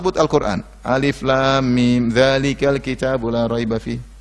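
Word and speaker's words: الم: Jangan baca alam, tapi bacanya alif lam mim.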